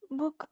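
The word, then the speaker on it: Buch: क्योंकि सीएच से पहले जब कोई वाउल साउंड आता है तो वो खा का साउंड देता है, खा यानी खरगोश वाला, है ना?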